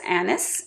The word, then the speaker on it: anise: pronunciation of anise because a lot of people say Anis uh and that is kind of more the French pronunciation and I guess there are you know parts of the United States where like Louisiana where they're more French people that came and they might say Anis whatever I'm going to